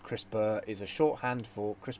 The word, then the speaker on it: CRISPR: I brought up the definition here CRISPR it pronounced CRISPR is a shorthand for Chris Berg - Kass